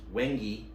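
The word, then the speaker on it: wenge: This one is made out of AEBL with, it's pronounced Wengi, wood handles with red liners, polished 1/4-inch pins as well.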